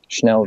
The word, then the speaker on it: Schnellville: Schnellville. No, I don't. I don't know how to spell that. SCHNELLVILLE. Like Achtung Schnell, that Schnell.